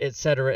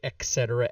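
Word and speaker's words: et cetera: etc etc and yes I do say it right etc etc I do not say it wrong like some people like most people who say etc etc with the K sound that makes me want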